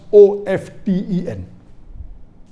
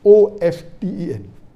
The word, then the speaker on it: often: Some will say often, some will say often. Previously it was often, then it became often. Now new people are saying often is correct. T is not silent, it should be pronounced.